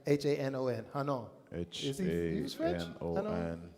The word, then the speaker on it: Hanon: H-A-N-O-N. Is he French? Anon. I think yeah, Hannon. Anon. We say Hannon, but it's probably the wrong pronunciation.